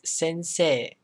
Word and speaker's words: sensei: example maybe you've heard this before this is sensei it's kind of hard to pronounce that way but the e extends the s sound at the end of se so it's sensei okay so same logic here for ohio it's